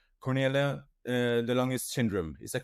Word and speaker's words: Cornelia de Lange: And well, today's topic is and correct me if I will pronounce this wrong. Cornelia de Lange syndrome, is that correct?